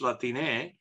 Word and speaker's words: Latine: So rather than putting an X, you put an E. Now, why do you do that? It's hard to pronounce X in Spanish. And so Latinx, how you pronounce that in Spanish is hard. But if you put an E there, it's Latine.